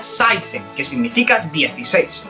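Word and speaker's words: seksten: tenemos por ejemplo la palabra sisen no se pronuncia sexen se pronuncia saisen que significa 16 y luego tenemos esta de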